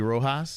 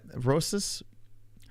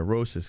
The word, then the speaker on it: Rosas: I guess it would be Rojas. No, Rosas. Raul Rosas Jr. Rosas, because he's not Brazilian.